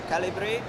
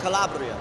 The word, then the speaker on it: Calabria: How do you say Calibre in English, in Italian? Calibri? Calibri, right? You come from Calibri? Oh, Calabria. Calabria. Calabria, yeah.